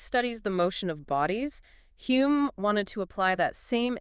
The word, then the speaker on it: Hume: David Hume. He later changed the spelling to Hume. Right, because the original Scottish pronunciation, Hume, was constantly being mispronounced by the English.